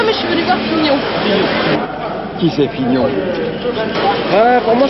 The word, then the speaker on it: Fignon: figeon comment figeon figeon non pas figeon Fignon Fignon ça s'écrit F i G n o n Fignon c'est le nouveau champion